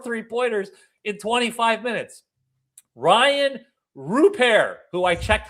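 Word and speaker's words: Rupert: Ryan Rupair, who I checked how to say his last name.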